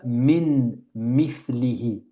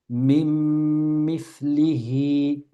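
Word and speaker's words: مِن مِّثْلِهِ: On ne dit pas min mithlihi. C'est très lourd. Min mithlihi. On dit directement. Mim, avec une shadda sur le mim. Mim mithlihi. Noun, sukoun, suivi d'un mim.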